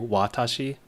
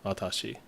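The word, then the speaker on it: わたし: So the watashi still has the W sound to it, but it's a bit softer than most people would say. Pronounce it initially. So instead of just a hard W, watashi, it's actually softer, watashi.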